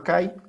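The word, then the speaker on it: καί: Unida por una conjunción que, o como se lee, que se escribe kai, pero debe leerse que por el diptongo. Unida por una que o por una kai, si quieres pronunciar así.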